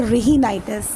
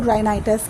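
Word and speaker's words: rhinitis: अच्छा, inflammation of nose, जैसे नाक में सूजन हो जाए उसको कहते हैं रिहिनाइटिस। H इसमें साइलेंट है तो राइनाइटिस कहते हैं, रेनाइटिस।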